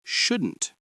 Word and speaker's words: should: We use the modal verbs should and shouldn't. Should. S H O U L D. The L is silent.